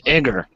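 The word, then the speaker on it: Igor: r yeah that's correct I thought it was aor it's Iger like Young Frankenstein yeah yeah flash is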